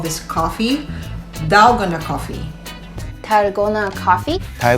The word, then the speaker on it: dalgona: found out that he actually called this coffee dalgona coffee Tarragona of coffee ty gonna coffee I'm